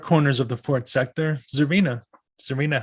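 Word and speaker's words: Czarina: Is Zarina or is it Zarina. I Zarina. noticed that a lot of people tend to really overpronounce the czar part, so they say Okay.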